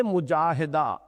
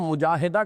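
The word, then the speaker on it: مجاهدة: جائیں گی۔ جوہد سے مجاہدہ، اصل میں ہم مجاہدہ کہہ دیتے ہیں، عربی میں اس کا تلفظ مجاہدہ ہوگا، اس لیے کہ یہ باب ہے مفاعلہ۔ اور اسی کا جہاد،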